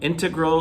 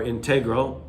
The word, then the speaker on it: integral: An integral or integral, two ways to pronounce it, means key, important, major, necessary.